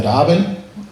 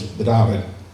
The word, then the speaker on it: Petapan: The symposium is called Dabinett and First Light. Even though it says it's spelled Petapan and it's in the Mi'kmaq language, the P's are B's, so it's Dabinett.